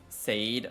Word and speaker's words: Sade: It would slot to here before it would there or is it like sade like the R&B art? Oo, you said it right.